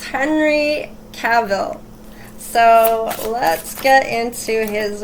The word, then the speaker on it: Cavill: No, Cavill. Sorry, I almost said it wrong again. Thank you to the subscriber that told me that I was saying his name wrong. So it's Henry Cavill.